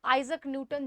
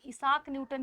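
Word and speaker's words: Isaac Newton: बात करें अगर हम आइजक न्यूटन, जिसको हम इसाक न्यूटन भी कहते हैं, न्यूटन भी कहते हैं, और ऐसा शुद्ध पढ़े तो आइजक न्यूटन कहा जाता है इनका शुद्ध प्रोनाउंसिएशन।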